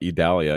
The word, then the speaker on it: Idalia: and the potential for severe weather and then Italia will continue to live to the Northeast and impact the South Philadelphia okay that's how they say it yeah I had to look that up idalia yeah there's another one I'll get to it